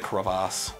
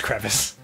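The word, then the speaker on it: crevasse: __ ] yeah the Kass kasses is that actually how you're supposed to pronounce it no it's crevice cuz I've heard someone say Kass un ironically that's the douchy way to say it oh okay yeah Bing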